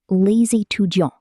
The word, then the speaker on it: les étudiants: Les étudiants, pronounced les étudiants.